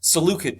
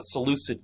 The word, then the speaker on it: Seleucid: and he creates the Seleucid Dynasty, or Seleucid Dynasty, again, based on how you want to pronounce it.